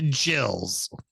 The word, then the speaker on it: Gills: the gills not the jills no they are the gills that's the difference because they're the gills except their name is pronounced Jil the other way around